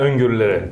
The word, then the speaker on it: öngörüleri: Can you pronounce that for me? Yeah, öngörüleri.